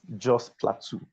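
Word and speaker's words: Jos Plateau: Is it called um it's let me say it right. It's Jo Plateau. It's Joe's Plateau.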